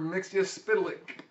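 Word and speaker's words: Mxyzptlk: Mixia Spitalik.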